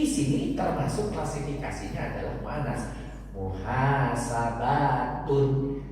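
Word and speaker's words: محاسبة: Di sini termasuk klasifikasinya adalah muannas, muhasabatun. Tetapi dalam pengucapan, kalau kita diwakaf, kalau kita berhenti, maka yang tun ini cukup dibaca muhasabah.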